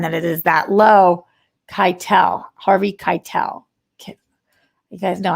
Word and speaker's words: Keitel: It's Harvey Keitel.